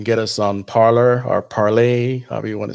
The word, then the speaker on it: Parler: Also, you can get us on Parler or Parlay, however you want to say that. Is Parlay is French, but it's spelled Parler.